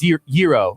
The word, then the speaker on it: gyro: So it's gyro. Gyro is how you pronounce it.